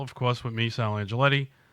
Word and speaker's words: Angioletti: I'm honored and excited to have SAL Angelotti. Angelotti? Yeah, it's okay. You could say however you want. No, you got to tell me how to say it. It's Angioletti.